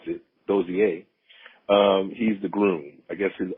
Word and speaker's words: Dozie: Dooney is the girl, and Dozier, I learned how to pronounce it, Dozier.